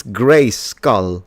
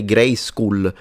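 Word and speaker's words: Grayskull: They would say gray school. So the way you pronounce it in Italian it sounds like a school rather than a skull.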